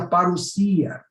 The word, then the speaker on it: parousia: A palavra vinda em grego é parousia, se escreve aí parousia, mas se pronuncia parousia.